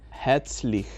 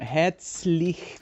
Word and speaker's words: herzlich: Ahí otra vez tenemos ER, que la R casi no se pronuncia. Herzlich. Entonces, Hea, como EA un poquito, Hea, y luego y la Z suena como TS.